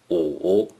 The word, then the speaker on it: 午: 午 is the third tone.Please pronounce it after me. 午午午 In ancient China, for